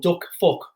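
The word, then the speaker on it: Đức Phúc: So what we did, we basically brought in and the name is exactly how it sounds. It's spelled differently, but it's called Duck Phuc.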